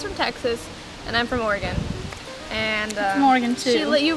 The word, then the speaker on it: Oregon: super angry is that tons of people on the east coast pronounce oregon oregon just dude it's oregon get it right there's so many people